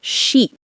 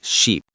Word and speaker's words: sheep: Another pronunciation mistake is mixing up ship and sheep. Oh, yes. I saw a big sheep. You mean ship? Exactly. Ship has a short sound, eh. Sheep has a long one, e.